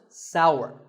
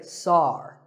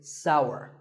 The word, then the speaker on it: sour: what about this taste it's pronounced sour some people say sar that is a mispronunciation the only correct way to say this word is sour many words in the